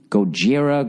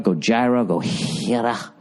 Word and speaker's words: Gojira: It's Gojira. Gojira.